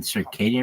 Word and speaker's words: circadian: was like the Cy Jo like you mean circadian rhythm he's like yeah Circ Rhythm okay that that guy was shitty no